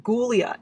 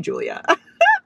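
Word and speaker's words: Giulia: cassio and julia so her name spelled with a g it's like g u uh i whatever like it's spelled like ghoulia and that's what i kept calling her until i realized that it was most definitely julia fun fact so it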